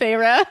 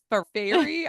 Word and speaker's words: Feyre: worst let's hear it so how do you pronounce so I already texted you to figure out how to it's phra right Farah okay and then what did you think it was I don't fire fairy I don't know like so Farah and then